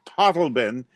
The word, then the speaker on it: Totleben: And it's Totleben. And it's Bissette, not Bassetti or Bassett. So I can give you correct pronunciations on our names.